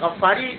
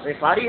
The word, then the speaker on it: غفاری: کا نام ہے غفار۔ عام طور پر اردو میں غفاری مشہور ہے لیکن عربی تلفظ اس کا غفاری ہے، کیونکہ قبیلہ بنی غفار